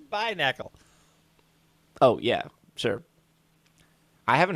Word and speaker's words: Binacle: It's Binacle.